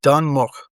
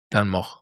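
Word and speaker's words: Dun Möch: In my version, Dunmok, Dunmok. like with an umlaut over the O.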